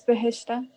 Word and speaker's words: Behishta: How do you pronounce it? Is it Bahishta? Bahishta? Yeah, it's Behishta.